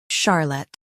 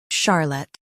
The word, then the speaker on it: Charlotte: In US, stress char. In UK, stress sha.